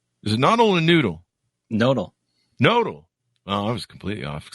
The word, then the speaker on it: Nodle: He is recently renowned for being a core part of an innovation team to build noodle? Is it noodle or noodle? Nodal.